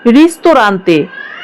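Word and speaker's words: ristorante: রেস্টুরেন্ট এর Italian শব্দ হবে রিস্তরান্তে।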